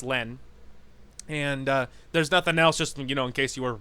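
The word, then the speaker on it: LLENN: inside the game her her username is Len and it's all caps and there's two L's in the front but I'm pretty sure it's just pronounced Len and there's nothing else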